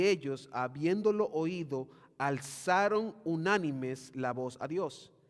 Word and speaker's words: unánimes: El verso 24 dice, "Y ellos, habiéndolo oído, alzaron unánimes, acento en unánimes, la voz a Dios."